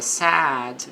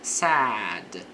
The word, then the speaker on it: sad: Então, a pronúncia da palavra sad, veja que é mais, a boca fica mais aberta, diferentemente do passado do verbo say, porque aí seria said. Então, aqui sad a boca fica mais aberta.